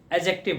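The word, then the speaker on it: adjective: अभी जस्ट मैंने बताया ए और जे के बीच का साउंड डी को हमेशा साइलेंट रखा जाता है, एडजेक्टिव होता है। क्या होता है? एडजेक्टिव।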